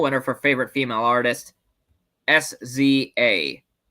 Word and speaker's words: SZA: Anyway, the real winner for favorite female artist, Sza, or Siza as it's pronounced.